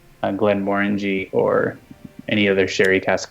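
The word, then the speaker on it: Glenmorangie: Glen Morangi. Say how I just said it. Glen Morangi. Glen Morangi. Glen Morangi. Like orange. Think of an orange and that's how you say it.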